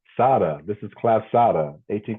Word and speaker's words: Tsade: Sada. That's how you pronounce it. Tsade.